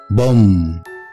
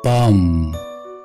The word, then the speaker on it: bomb: number 18 قنبلة, لكن مش اسمها pump ولا pump, بالبريتش بوم, بوم, بوم, اما بالامريكان بام, بام, بام, بوم.